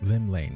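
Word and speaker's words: Llymlaen: Gaze of the nation's Patron deity Lim Lane Lim Lane yeah that's how you say it what realm-shaking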